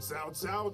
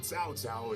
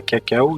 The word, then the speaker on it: Cao Cao: C'est pas cacao, sans au pire, ça aurait été cao.